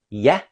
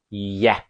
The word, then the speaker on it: ja: For example, the Danish word for yes, Yah, sounds more like it's spelled with a Y. Yah.